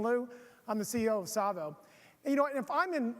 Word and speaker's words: Savo: you should know called tsavo rhymes with Bravo tsavo rhymes with Bravo keep